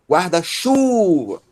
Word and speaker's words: guarda-chuva: A sílaba tônica de guarda-chuva é chu, guarda-chuva, ok?